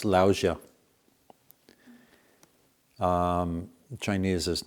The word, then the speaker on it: Lao Tzu: many different pronunciations so latsu is what I grew up reading I think now more commonly it's laosia um Chinese is not